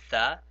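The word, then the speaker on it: ث: Now notice when I said the letter tha, I put my tongue in between my teeth.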